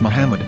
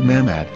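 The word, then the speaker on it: מחמד: Muslim Prophet or as mammad with no a after the H according to Ben yehuda's Hebrew English dictionary it is correctly pronounced as Muhammad not mammad here is the famous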